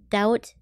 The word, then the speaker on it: doubt: is a weird word doubt why is there a b in there what who decided there